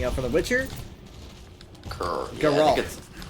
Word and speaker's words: Geralt: Geralt. Yeah, it's Geralt. It's Geralt. But I can't. I've said Geralt. I can't stand it because I want to say Why was Geralt I so going up there?